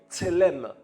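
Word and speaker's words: צלם: Le mot image en hébreu veut dire tselem, tselem en hébreu. Ah, vous allez entendre la parole différemment. Amen. Ah oui. Tselem, ça s'écrit T-S-E-H et lem, tselem.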